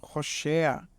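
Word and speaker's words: הושע: E aí temos outro nome bem embaixo, Roshea. Veja só, nessa palavra o Vav tem o som secundário de consoante vocálica, que é um O.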